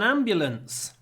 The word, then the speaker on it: ambulance: the ambulance the ambulance and because the am is stressed we get a long M the ambulance came quickly